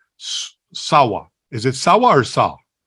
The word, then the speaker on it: Sawh: Is it Sawh or Sawh? How do you pronounce it, Ian?